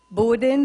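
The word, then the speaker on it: Bowdoin: one would send out borden the first universe from which he graduated rhymes with slowed in or growed in accent on first syllable thomas says he can't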